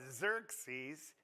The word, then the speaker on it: Xerxes: do you say it Xerxes xerx it's not ex you know Xerxes and then the uh